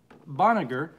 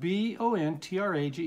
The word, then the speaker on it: Bontrager: This is from Frida Boniger. Okay. You know what? Bontrager.